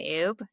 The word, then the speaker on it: Oubre: Yeah, so all of the platforms I'm going to say are are ub.